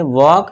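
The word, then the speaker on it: walk: उसे हम क्या पढ़ेंगे, सिर्फ है ना WAK तक पढ़ेंगे और L को भूल जाएंगे, तो इसे पढ़ेंगे वॉक, इसे पढ़ेंगे टॉक, L को भूल जाएंगे।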